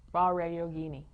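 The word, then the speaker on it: Vajrayogini: I don't want to pronounce the J to make it sound. Vare Yogini.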